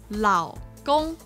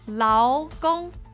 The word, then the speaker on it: 老公: So it would be lao, lao. So what it would sound like is lao gong, lao gong. And the wrong one, remember, the wrong one is lao gong.